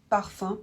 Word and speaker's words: parfum: Parfum, par exemple, se prononce 1.